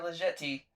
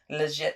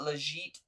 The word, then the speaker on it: Jetée: Jetée. I just let you say it. However you're gonna say it. I used to call it legit, but that is not how it's pronounced.